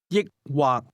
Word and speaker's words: 抑或: 抑或或抑或抑或 This word is pronounced with a combination of high and low level tones. Say or. 抑或抑或 Try to ask, do you want to drink beer or wine?